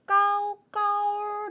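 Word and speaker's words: 高高: 그리고 글자에는 보이지는 않지만 네, 까오까오 네, 두 번째 음에서 얼화가 살짝 있는 것처럼 읽어주면 좀 더 중국스럽게 중국 사람처럼 발음을 하시는데 도움이 되실 수 있을 것 같아요.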